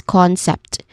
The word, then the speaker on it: concept: Following this is a soft uh sound and then following that is concept which has two syllables. The stress is on the first syllable. We pronounce it as the first syllable as con.